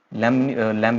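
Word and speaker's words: lamb: हम इसको लैम्ब नहीं बोलते, इसको बोलते हैं हम लैम्ब।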